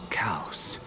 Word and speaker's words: Kaos: It's still you and Nias, but you're now talking about a certain Kaus. Spelled like chaos, but with a K.